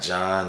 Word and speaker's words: John: Not John, not none of these. So John means God's grace and mercy. But I also told you the H is silent.